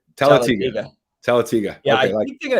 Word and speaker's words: Talladega: I keep hesitating on the name, on the pronunciation or enunciation. Talladega, right? Talladega.